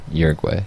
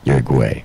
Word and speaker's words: Uruguay: way better you're going uruguay uruguay like as a boy as if you were calling me a quay broke okay agway like you're what I don't know but that's how you pronounce it Uruguay so for multi videos